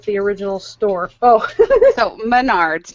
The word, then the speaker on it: Menards: for a dollar wow please tell Chris it's pronounced Menards I grew up shopping at the original store oh so Menards not Maynards yeah I like Maynards Menard like mayor G